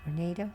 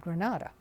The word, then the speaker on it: Granada: understand now it's pronounced Grenada but we always pronounced it Granada being from California the following morning was